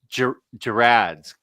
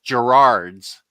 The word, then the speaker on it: Gerads: always works with everyone always says Gerards and I'm like there's no extra R there n but it is but is it a hard G or a soft G I don't think he